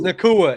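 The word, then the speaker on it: Nacua: I still can't pronounce it. Like, man, is it Nakua or is it Nakua? Oh, it's Nakua.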